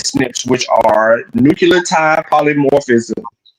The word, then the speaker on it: SNPs: about the snps and you're just pronouncing them as Snips which are nuclear TI